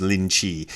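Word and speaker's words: Linji: The Rinzai sect of Zen is named after a guy, Rinzai, and his Chinese pronunciation, or at least Mandarin pronunciation, is Lin Chi, which to me sounds vaguely like Rinzai, so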